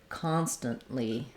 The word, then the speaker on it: constantly: a Lee syllable and we definitely use the unreleased T there constantly constantly so it kind of sounds like constant with a really short n dropping off and then moving right